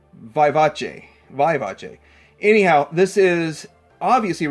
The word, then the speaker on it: Vivace: I've heard so many different pronunciations, and Google says it's Vivace.